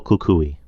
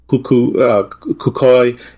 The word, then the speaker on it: El Cucuy: There's the cuckoo, the coco, cucuy, cucoy. It's pronounced different ways in different places: Cuba, Costa Rica, Colombia, Mexico.